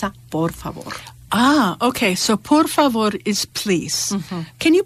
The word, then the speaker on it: por favor: to learn is that every single letter is pronounced and it's pronounced the same every time so unlike English where